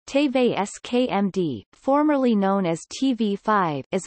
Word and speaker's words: TV5Monde: TV5Monde French pronunciation, TVSKMD, formerly known as TV5, is a French pay television network, broadcasting several channels of French-language programming.